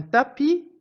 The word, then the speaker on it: tapis: mué dans un camp un tapis est un mot de la même famille que la tapisserie dans lequel j'entends le S qui était mué dans le mot tapis certaines terminaisons des verbes